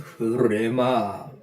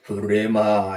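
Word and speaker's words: ῥῆμα: 약간 히읗 발음이 납니다. 히읗 발음이에요. 그래서 흐레마. 보통 우리가 레마 합니다만 흐레마 이렇게 표현됩니다.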